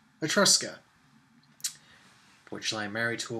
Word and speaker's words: Etrusca: It is not Etrusca. It is, in fact, Etrusca.